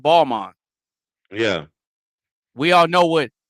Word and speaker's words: Balmain: Just like we all know what Balmain is, but it's actually pronounced Balmain.